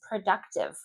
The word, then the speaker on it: productive: I included it here because this is a word that often students would stress the wrong syllable or they have difficulty with the productive. It's like dnick. Productive. Productive. D and then productive. Productive.